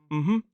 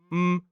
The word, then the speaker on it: mhm: So Mhm. is kind of a two syllable sound. Mhm.